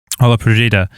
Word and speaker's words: Olla Podrida: How do you pronounce it? Yeah, that's it. Olla Podrida.